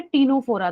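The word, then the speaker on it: Ctenophora: अब जो नेक्स्ट है उसका नाम है टीनोफोरा। सी इज साइलेंट, तो इसलिए इसको ट से ही साउंड करते हैं।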